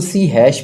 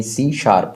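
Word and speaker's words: C#: यह क्या प्रोग्राम है इसको सी हैश भी बोलते आम से आम से लोग जा पब्लिक लिए में बोलते हैं वैसे य सी शार्प होता है यह इसका स्पेलिंग है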